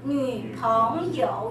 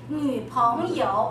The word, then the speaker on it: 女朋友: 女朋友, not 女朋友, 是女朋友, lower, second. Okay, 女朋友, 有, original third tone. Okay, now use it as a neutral tone. 女朋友, everyone?